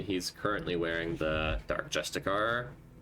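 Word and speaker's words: justiciar: So um specifically for Asterion he's currently wearing the dark justicar or rather it's I think it's pronounced justiceier right dark justiceier half plate.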